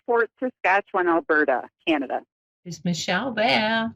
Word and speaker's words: Fort Saskatchewan: How do I pronounce where you live? Hi, so it's Fort Saskatchewan, Alberta, Canada.